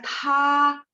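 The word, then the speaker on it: 他: Kalau misalnya T baca TH, misalnya tha TH, teman-teman mesti tambahin TH. Tha nada 1 ya.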